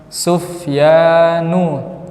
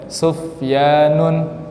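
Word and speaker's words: سفيان: Sufyanu, tidak boleh Sufyanun.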